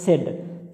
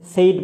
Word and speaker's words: said: ওয়ান ডে my mother সেড, সেড SAID, উচ্চারণটা হবে সেড, সেইড বলবা না, এর উচ্চারণটা হবে সেড।